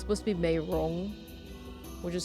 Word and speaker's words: Meirong: It's supposed to be Meirong, which is spelled M-E-I-R-O-N-G. That's technically how it's supposed to be saying, but Rong is actually pronounced differently in Shanghainese. So some people thought it was Mei Young.